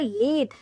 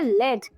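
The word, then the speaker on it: lead: pronunciation and different meanings पहला जो pronunciation है वो है लीद जो कि है एक वर्ब और जिसका मतलब होता है नेतृत्व करना सेंटेंस के थ्रू और ज्यादा समझते हैं यू go first I will follow your let अब आते हैं इसके दूसरे प्रोनंसिएशन पे जो कि है लेड यह एक नाउन है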